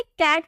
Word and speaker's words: cat: आपने कैट तो सुना होगा, CAT कैट। इसे हम क्या प्रोनाउंस करते हैं?